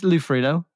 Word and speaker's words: Ferrigno: well Ferrigno no it's Italian Ferrigno probably foreign this is song about the woman I love and my wife I call it Man Savage no it is lufrido it's it's a silent G I think you you